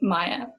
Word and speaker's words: Maiya: for a school project, and it's called Just Maiya. And just for a reference, my name is spelled M-A-I-Y-A.